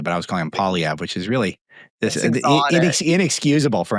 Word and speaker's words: Poilievre: I should have been saying Poilievre the whole time. That could have really helped him a lot if I had just pronounced it properly. But I was calling him Poilievre, which is really inexcusable for an editor.